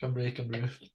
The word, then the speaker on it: Cymru: Is that how you pronounce it? Cymru. Cymru.